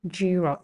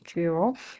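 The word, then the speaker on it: Giro: how they pronounce this word by the way jro they pronounce it they pronounce it as jro so Jalia is another major major cycling race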